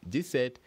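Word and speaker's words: dix-sept: says we have 17 which is this set yes two sounds this and set D set and how do you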